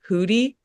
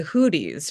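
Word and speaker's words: Houthi: The the the it's it's spelled H O U T H I, but I think it's pronounced Hoodi.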